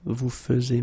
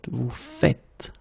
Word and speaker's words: faites: it like that and it's not vous faisez but vous faites.